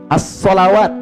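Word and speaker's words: ٱلصَّلَوَات: Kalau yang dimaksudkan yang kedua, yang ini, as-salawat bacaannya. Alif, lam, sod, lam, waw, alif, ta, maftuhah. As-salawat dibacanya.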